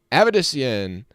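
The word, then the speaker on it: Avedisian: stick around with us I figured out how to pronounce the one girl's name now now that I've heard it over the speakers Jade abedician there we go evidence I was saying I think I was saying like Ave Dyson I have it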